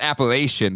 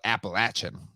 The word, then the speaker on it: Appalachian: very and you know I pronounced that appellation but here they call it Appalachian I say appellation yeah I do as well because when I moved